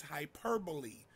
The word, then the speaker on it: hyperbole: people say hyperbole but the correct way to pronounce it is hyperbole an exaggerated statement used to heighten effect it